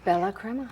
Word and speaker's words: Bella Crema: Am I pronouncing it correctly? Bella Crema.